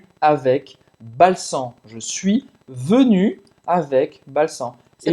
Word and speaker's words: venu: Então, je suis venu, venir, você vai usar o verbo être. Je suis venu, tu es venu. Tu es venu. De novo, o biquinho francês para pronunciar venu.